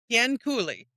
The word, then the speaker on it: Cianciulli: I'm going to need you to say pronounce the last name. Un momento. Cianciulli.